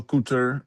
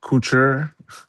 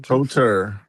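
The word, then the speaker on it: couture: Her casual cooter. Um, is it cooer? Whatever. Yeah. Cter. So, the u is silent.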